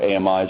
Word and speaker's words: AMIs: run on AWS we have our Amis or amies however you uh choose to pronounce it um an agent deployment